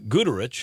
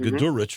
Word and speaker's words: Goodrich: first preseason telecast was good rich hooch I had called go to rich for a long time Goodrich III see some stuff